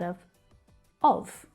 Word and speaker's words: of: You blend the s from the end of slice and connect it to the schwa sound at the start of, which is pronounced of.